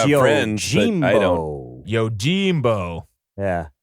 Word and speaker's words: Yojimbo: And this week, we are watching number 108, which is the 1961 movie Yojimbo, which is how it is pronounced. Yojimbo.